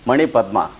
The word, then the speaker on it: Manipadma: the syllables and sounds Manipadma. For example, Ma is 1 syllable, N is the 2nd syllable, Pa is the 3rd syllable, DMA is the 4th syllable.